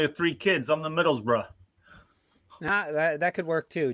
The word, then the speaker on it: Middlesbrough: nottingham forest you know every every time i hear somebody go middlesborough and i'm like no no you get you gotta pronounce it like um like somebody from long island who really wants the middle seat on a plane and as you're walking up on the plane he goes middlesbrough like they're calling for